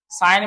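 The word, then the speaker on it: sign: Doubt में देखें बी साइलेंट है, सटल में बी साइलेंट है, डिजाइन में इसका जी साइलेंट है, साइन में देखें कि इसका जी जो हमारे पास वो साइलेंट है।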